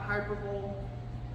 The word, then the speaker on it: hyperbole: It may be, I get this word wrong, Landon, it's not hyperbole.